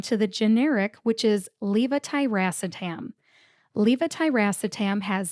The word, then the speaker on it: levetiracetam: The fourth syllable, ra, R-A, gets the primary emphasis. Emphasize le, but stress ra more than le. It sounds like this. Levetiracetam. Levetiracetam.